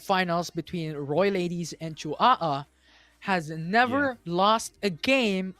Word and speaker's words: Chihuahua: And also, I want to give a huge shout out to Ayapi as well for correcting the pronunciation of their teams. It's Chihuahua that's coming in from the Philippines.